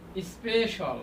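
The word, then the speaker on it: special: সোশাল সোশাল সোশল সোশল সোশল সোশল সোশল সোশল সোশল সোশল এরপর দেখেন স্পেশাল অর্থাৎ আমাদের এটার উচ্চারণ কি হবে?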